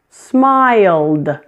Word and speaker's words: smiled: Sounds like D. Smiled. Smiled.